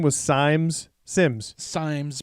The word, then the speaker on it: Symes: guy's name was simes sims symes pronounced it's s-y-m-e-s but it's pronounced sims sim from what i